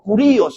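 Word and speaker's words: κύριος: La palabra que se usa aquí en el idioma griego es la palabra curios o curíos la pronuncian algunos.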